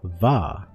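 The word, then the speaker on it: vai: Not Vah, Vah. Right, it's Vah? That's how you say it? Bite your bottom lip when you... Bite your bottom lip seductively.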